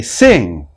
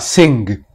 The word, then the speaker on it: sing: this sound is that we generally don't pronounce the G even though there is G in the spelling we say sing not sing tongue not tongue but